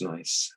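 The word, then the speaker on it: gneiss: mud over the time slate changes into nice pronounced nice okay so sheast and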